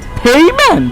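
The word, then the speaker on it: payment: কি বলে ও card পেমেন্ট পেমেন্ট ইটস নট পেমেন্ট এটা কি পেমেন্ট পেইমেন্ট ইয়েস ওরে বাপরে বাপ সো পেমেন্ট না বলে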